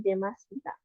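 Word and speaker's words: 出ました: kayak kanji ini ya, Demasita. Cuman Dasimasita tuh setelah kanji Deru yang ini ditambahin lagi si ya. Jadi Dasimasita. Tapi kalau cuman kayak gini aja itu dibacanya jadi Demasita.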